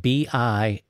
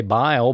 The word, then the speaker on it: Bilal: It's spelled B-I-L-A-L, Bilal. I want to say Bile, but that isn't right.